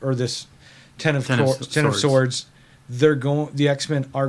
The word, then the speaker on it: X of Swords: this um um uh ten of swords uh storyline yeah okay so ever nobody knows how to what it's pronounced x of swords x it's based on tarot cards this yeah this thing